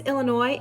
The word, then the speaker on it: Illinois: "Yes, my name is Illinois, and I need one airline ticket to, Illinois? No, the S is silent.